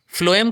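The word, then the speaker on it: phloem: फ्लोएम का pronunciation जब आप करते हो ना, तो फ्लोएम का प्रोनाउंसिएशन आप लिखते तो पीएच हो पर करते एफ से हो, तो फ्लोएम को आप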